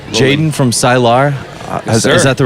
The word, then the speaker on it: Sylar: Yeah, so right, Jaden from Sylar. Is that the right pronunciation, right? Sylar.